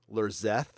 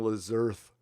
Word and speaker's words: Lerzeth: Okay, I've been pronouncing your last name wrong for like a year now, so I'm sorry. Lerzeth. I've been saying Lezerth.